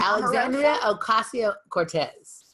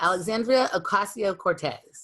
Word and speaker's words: Alexandria Ocasio-Cortez: Alexandria Ocasio-Cortez. So there's no, Cortez is her name. And the Democratic Socialist from New York? Yes. Alexandria Ocasio-Cortez.